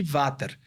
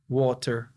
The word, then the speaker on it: water: Não existe vater. Ninguém que é falante de inglês fala vater, a não ser quando você erra a pronúncia da palavra water, water, water, water.